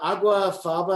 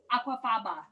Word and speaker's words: aquafaba: one with the um what is it the agua faba i can never say it correctly yeah aquafaba yes it has that kind of um that